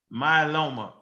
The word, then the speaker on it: myeloma: Listen to the It's multiple myeloma. Oh, okay, multiple myeloma. That's a blood cancer. So melanoma, I think, would be skin, but myeloma is in the blood. I was saying it wrong.